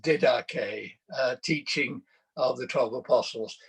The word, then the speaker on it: Didache: the page which looks like didache um is pronounced didache teaching of the twelve apostles it's not uh